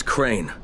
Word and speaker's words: Crane: no my name is crane okay crane rhymes with train and brain and sane and gray and rain and plane and the